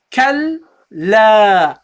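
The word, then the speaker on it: كَلَّا: The first lam is non-vowel, so we have to attach this to the kaf to the lam. You say kal. And the second lam, you pronounce it with the fatha. So you say kal la. Because there is an alif involved, you prolong it. Kalla. You have to pronounce it the double the duration.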